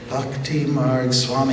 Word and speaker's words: Bhakthi Marga Swami: let me see if I say it right bhakti marg Swami you said it Jenny it was great okay